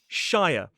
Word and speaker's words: shire: S H I R E. As an isolated word, we do say shia.